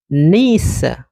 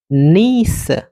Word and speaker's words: niece: Ça se prononce niece. OK? Niece. Donc, pour dire c'est ma nièce, comment on va dire en anglais? Mhm. Ah, d'accord. Ça se prononce niece au lieu de nièce comme en français.